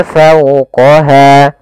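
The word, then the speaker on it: فَوْقَهَا: Fau, di sini ada bacaan lin, yaitu adanya fathah bertemu dengan huruf waw, maka dia dibaca dengan lembut. Fawqaha.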